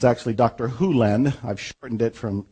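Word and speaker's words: Hew Len: Len's world, and it's actually Dr. Hulen. I've shortened it from E to Dr. Len, but it's actually Dr. Hulen, if you want to say his name correctly.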